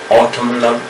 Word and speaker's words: autumnal: Otherwise, N is autumn, N is silent, mostly we keep in case of autumn. Autumn is the weather, the condition of the weather, one of the season of the weather, right? Okay. Autumnal, but here N is pronounced, but mostly autumn, we say autumn, A-U-T-U-M-N, okay, that means autumn. N is silent, but in this case autumnal we have to say.